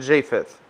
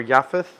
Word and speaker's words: Japheth: And Noah had three sons, Shem, Ham, and Japheth, or Yapath, if you pronounce it that way.